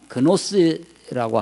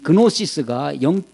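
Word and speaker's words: gnosis: 영지버섯 그 영지가 아니라 영지주의, 노스틱시즘이라고 하는 그노스라고 하기도 하는데 쥐가 묵음되기도 합니다. 이 노스틱주의, 영지주의는 영적인 우리말은 영적인 지혜가 있다. 이 그노시스가 지혜라는 건데 그 지혜가 있어야 된다는 거예요.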